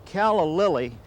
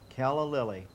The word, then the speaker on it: calla lily: should say first of all that a a caly is a native of South Africa and growing